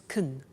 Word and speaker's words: can: can speak Spanish now notice the pronunciation of can becomes Caen she can she can